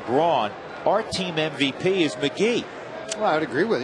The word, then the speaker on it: McGehee: When you see his name, it looks like it should be pronounced McGehee. It's pronounced McGee.